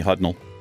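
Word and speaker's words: Hudnall: my last name hutnell h-u-d-n-a-l-l it's pronounced hudnell I used to think it was German it sounds a little bit German to me hudnell and it looks when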